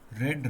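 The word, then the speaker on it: read: to walk पढ़ना रीड रेड रेड ये ध्यान रखना इनके स्पेलिंग सबके सेम है लेकिन सेकंड फॉर्म को लाल रंग वाला रेड बोला जाता है एंड थर्ड फॉर्म की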